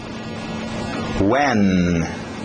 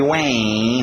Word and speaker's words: when: When? Nada de when, não quero when, eu quero esse N nítido no nariz.